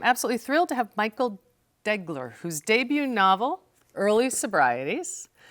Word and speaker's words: Deagler: I mispronounced your name did I get it degler degler yes I got corrected right